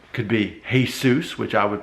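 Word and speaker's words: Jesús: but if the guy is Mexican and it's pronounced hey soos then there's nothing funny it's accepted like wait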